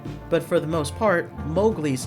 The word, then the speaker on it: Mowgli: Stories had intended for his name to be pronounced Mowgli the Disney film unwittingly had changed the pronunciation to Mowgli Kipling's daughter who was still alive at the